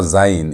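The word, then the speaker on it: זַיִן: Z has the zed sound as in zebra. And notice how it's written. This is how zen is written.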